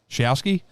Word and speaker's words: Shousky: Hell, how do you say it? Shousky? Yeah. Shousky.